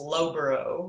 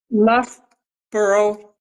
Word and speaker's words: Loughborough: I think it's pronounced Loughborough, right? Loughborough, Loughborough? Okay. Lough, like slough.